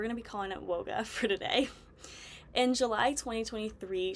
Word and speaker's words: WOGA: um but we're going to be calling it woga for today in July 2023 she confirmed on